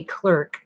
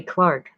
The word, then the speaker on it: clerk: chaucer was a controller of customs and justice of the peace and later a clark in the us we say clerk the british say clark of the king's work